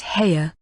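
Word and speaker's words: Haigha: His name is Heya." He pronounced it so as to rhyme with mayor.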